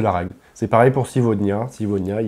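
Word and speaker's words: сегодня: a une voyelle de chaque côté, donc on prononcera le G, V. Et ça, c'est la règle. C'est pareil pour Sivodnia.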